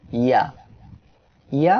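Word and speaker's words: ي: আজকের অষ্টম অক্ষর হলো ইয়া। ইয়া অক্ষরে 1 আলিফ টান। ইয়া অক্ষরটি জিহ্বার মধ্যখান তার বরাবর উপরে তালুর সঙ্গে লাগিয়ে উচ্চারিত হয়।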